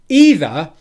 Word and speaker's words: either: every time of that but either the second syllable is very simply the word the in english now what will help